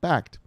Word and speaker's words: Backed: has already announced its first investment in backed pronounced backed the massive project developed by all in this